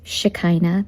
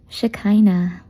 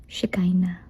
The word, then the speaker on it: Shekinah: It sounds like So it's Shikina. That's how you pronounce it. Pero I'm sure a lot of you are saying shikina or takay na pero huwag niyo akong sasakyan kasi ang sakit na po ng likod ko. So it's just shkina. Okay. So that's how you pronounce my name po.